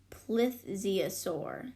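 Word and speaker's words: plesiosaur: Buckland called it a placeas sore that's how you pronounced that lift Ziya sore one day tre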